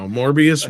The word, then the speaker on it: Morbius: Like Morbius rhymes with glorious, and I don't think that's ironic.